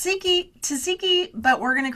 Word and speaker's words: Tsikki: It's it's Tiki Tiki, but we're going to call you because we want to make sure that we don't get your name wrong.